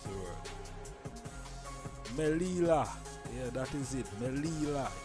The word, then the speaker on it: Melilla: Oh, we can't even pronounce the word. Melilla.